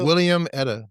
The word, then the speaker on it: Wilhelmina: Not watermelon. The way you say that. William Etta. There you go. Oh, William Etta.